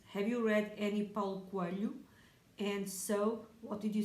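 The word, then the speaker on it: Coelho: think of his book find it funny when people try to say his name they always say it in a strange way it is portuguese sound which we form with l and h so i read the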